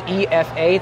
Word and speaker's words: Ifa: Academy was uh is EFA to help people pronounce it because the I is like an e so that's why I